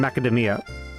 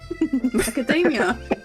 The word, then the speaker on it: macadamia: No, Wolfie, you see, there's no Y in macadamia. Macadamia? No, it's macadamia.